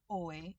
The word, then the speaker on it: oi: Um, by itself, it is oi and it is two syllables.